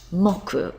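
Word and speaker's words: 木: tree here it is up here and it's pronounced mocku when you use it in a day of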